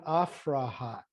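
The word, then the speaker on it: Aphrahat: And I'd like to begin with my friend Afrahat.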